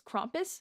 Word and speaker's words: Krampus: just gonna say that i've been pronouncing krampus name wrong it's krompus so for the rest